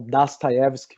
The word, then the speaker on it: Dostoiévski: Aí trago a vocês, eu vou passar um livro aqui para vocês, que é o Dostoiévski, ou Dostoiévski, como os russos geralmente pronunciam, né?